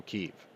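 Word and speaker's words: Kyiv: ability to encircle keeve if you notice i've been pronouncing kiev the way that the ukrainians do now because i didn't realize how insensitive it was for calling it the way that the russians do making an effort here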